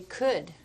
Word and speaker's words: could: Okay, could. Could. C-O-U-L-D. Excellent. That silent letter L in there is kind of funky.